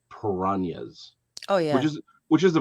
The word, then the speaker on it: piranhas: Way we say piranhas. Well, we say piranhas up here, but I live with the Colombian. Oh, okay. So they're piranhas. Okay, fair enough. Yeah, because that is the correct way to pronounce it.